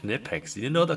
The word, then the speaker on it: Knipex: They're called Knipex. You didn't know they're called Knipex. That's how it's pronounced. That's how the web their own company calls it that. It's definitely Nipex.